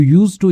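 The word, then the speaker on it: used to: तो इसमें डी जो होता है वो साइलेंट हो जाता है बोलते टाइम पे। तो यू यूज टू इंसल्ट, तुम अपमान जो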